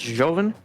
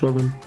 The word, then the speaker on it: Ljovynn: The L is silent. Just Ljovynn. Or Joven. I wouldn't think it would be like a hard J, like That's usually how. That's like an Americanized J, isn't it? Yeah, it's pronounced Ljovynn.